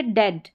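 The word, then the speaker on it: dead: ए sound. ए sound. ठीक है? अब वैसे डेड ए करके साउंड आएगा। हिंदी में ए लिखा गया है। लेकिन अगर इसका करेक्ट साउंड देखेंगे हेड अ ब्रेड ब्रे डेड अ साउंड अ ए लिखा गया है हिंदी में लेकिन सही उच्चारण हिंदी में ऐसा लिखा गया है लेकिन सही उच्चारण तो बोलने से ही आता है।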